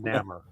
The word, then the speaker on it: Namor: Roman backwards. Yep. Yeah. Maybe. Yeah. Even at 8 years old, I was like, this is just Roman backward. That's why it works though. That's why I always pronounce it. That's why I always pronounce it Namor.